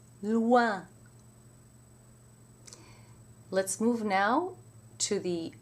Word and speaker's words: loin: OI is almost always pronounced wa in French, except when it's followed by an N, in which case it's pronounced loin. Let's do some words. Moi. Toi, soi, voix, joie, and with an N, moins, foin, loin.